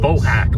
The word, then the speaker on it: Bohack: Bohack, like BoJack Horseman, except my with a hack.